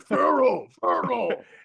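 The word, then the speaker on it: F.HERO: half the comments were probably like Pharaoh. You know what? Cool. Now when I do it, I'll know how to say it. Yeah, my favorite band, Pharaoh. I appreciate them for commenting, though. So I think I'm gonna mispronounce things more often. Isn't really. it literally like F period hero?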